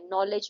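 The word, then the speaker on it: knowledge: इसमें जी साइलेंट है। नॉलेज में के साइलेंट है।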